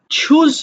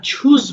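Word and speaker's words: choose: বিট bit beaten চুজ মানে পছন্দ করা। দেখো কোন উচ্চারণে যদি উচ্চারণের প্রবলেম হয় আমরা বাংলাটা দেখে নিব।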